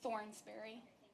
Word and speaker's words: Thornberry: Thornberry. Just like it sounds.